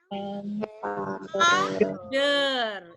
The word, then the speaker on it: father: Jadi ini bacanya yang ini adalah a photograph of the, karena dia British R-nya hilang, mother R-nya hilang lagi, and father R-nya hilang lagi.